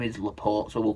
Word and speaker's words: Laporte: As you will have seen from my video yesterday, Laporte, not Laporte, Laporte. Now, his name's pronounced Emeric Laporte.